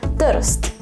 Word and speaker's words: Trst: Or, as they say in Slovenia, Trst. Yes, like that, without any vowels whatsoever. That happens a lot in Slovene. You add some sort of e sound in the middle so that you can pronounce it.